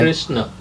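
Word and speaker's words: कृष्ण: But when you pronounce it, there's a little A at the end. Yeah. Krishna.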